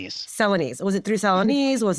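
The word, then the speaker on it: Celanese: How did you first get involved with United Way Dallas and was it through is it Salanise? Am I pronouncing that right? Yeah, it's Selines. Selines.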